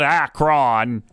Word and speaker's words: Akron: It's like Akron, Ohio. People tell it's not Akron, it's Akron.